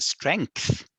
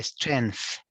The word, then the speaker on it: strength: Yes, that's the right pronunciation, because a lot of students say the strength, but it is actually strength.